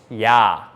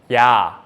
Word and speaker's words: ㅑ: And if we add another stick on the right side of the vertical line, it's ya, ya.